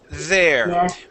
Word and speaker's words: there: you that word is there we pronounce it by putting our tongue between our teeth yes just like that